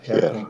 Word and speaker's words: Herkunft: Yeah, Herkunft. Yeah, sounds pretty good. Okay, well, I'm used to not pronouncing H's, but I got German does pronounce their H. It's kind of soft, yeah. Gotta do it soft.